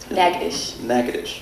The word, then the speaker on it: Natchitoches: My number one question about Northwestern State, how do you pronounce the name of the town that it's in? Natchitoches in Louisiana.